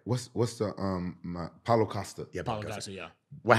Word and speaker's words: Paulo Costa: Paulo Acosta. Paulo Costa. Paulo Acosta. Paulo Costa. I said Paulo it right. Acosta. Is there an A before the? I think it's just Paulo Costa.